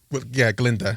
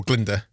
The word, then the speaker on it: Glinda: Glinda or Glinda. Each way you pronounce it is valid.